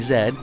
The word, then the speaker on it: Z: it canadian by saying zed it's i play dragon ball z i'm so used to saying z instead of z did you know that though in canada technically it is pronounced zed weird right all right